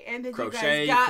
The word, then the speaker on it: Croce: Jim Croce, Bad Leroy Brown.